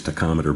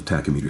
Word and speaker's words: tachymeter: And sometimes people will mispronounce it as tachometer, but if they're pointing at the edge of the watch, you can pretty much guess that they're talking about the tachymeter scale, which is how do